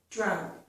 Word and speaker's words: drought: Drow, drow, drought. Okay? The vowel is the same as in cow and how. In addition to that, okay, the GH is not pronounced, just as with these